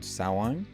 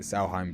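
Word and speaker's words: Samhain: to understand that uh I think it's now called Sawan I'm still saying it wrong I called it sauheim before the the Halloween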